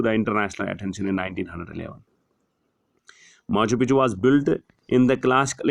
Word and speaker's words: Machu Picchu: In English, the name is pronounced Machu Picchu.